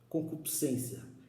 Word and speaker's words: concupiscência: Concupiscência. E se pronuncia assim, concupiscência. Alguns irmãos falam concupiscência. Não, é concupiscência.